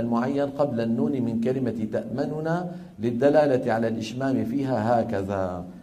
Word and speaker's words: تأمننا: الوجه الثاني الإشمام، وذلك بتسكين النون الأولى وإدغامها في الثانية مع ضم الشفتين من غير صوت بعيد البدء بنطق النون المدغمة. بعيد يعني بعد على طول، بعدها على طول بعيد النطق بالنون ومقارنا للغنة المطولة كما شرحته لكم الآن وكما لفظته ولفظتمه.